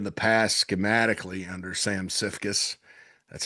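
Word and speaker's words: Siefkes: run uh in the past schematically under Sam Cifus. That's how you pronounce it. Cifus, the former Wford defensive coordinator.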